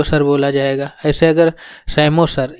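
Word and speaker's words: psammosere: बोला जाएगा ऐसे अगर सेमो सर इसमें पी साइलेंट होता है सेमो सर अगर सैंड पे कोस्टल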